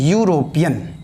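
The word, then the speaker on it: European: डेस यूरोपिय यूरोपिय आप यहां पर गौर कीजिए यूरोपियन हिंदी साउंड दिखेगा तो कहीं भी गलत नहीं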